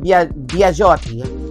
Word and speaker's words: Biagiotti: Pero ang Biagiotti is B-I-A-G-I-O-T-T-I. Pero pag-pronounce is Biagiotti.